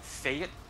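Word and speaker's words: fête: Like, for example, the word which in regular French is fit, is which is an F E with a little like up arrow accent T E, is pronounced something like fate.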